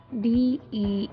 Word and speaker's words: dengue: So it's not U sound in the end of the disease.